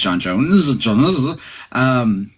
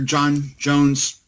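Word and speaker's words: J'onn J'onzz: third is again the the dubious pronunciation I believe it's John Jones but because I didn't have a cartoon representation or a live-action representation I always just read it as John's so anyway he was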